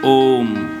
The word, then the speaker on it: ओम: ओम नहीं कहते हैं ओम अकार उकार मकार ओम जब आप ओम का